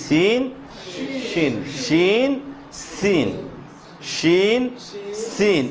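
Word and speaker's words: سين: Scene একটু কি শক্ত করে, সিন একটু কি চিকন করে ছাড়তে হবে আওয়াজটা, আর শিন একটু আরো স্বাভাবিক করে, আরো কি স্বাভাবিক করে হয়ে যাবে।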